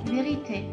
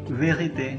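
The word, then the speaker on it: vérité: disebut eh exf kredi kredi cre create m verite verite zero zero okey itu kredit atau pulsa k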